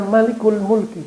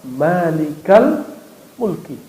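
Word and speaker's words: ملك الملك: frase barangkali dua kata maka tidak dibaca Malikul Mulki bacanya Ya malikal Mulki coba Antum doa Rabbana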